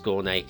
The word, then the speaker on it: Skåne: I have checked Skåne is the correct pronunciation as well, so there we are.